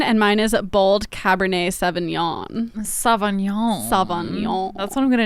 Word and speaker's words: Sauvignon: yeah I don't know would you spell it i g n o n yeah it's like yeah you have to act like you're yawning yeah it's pretty I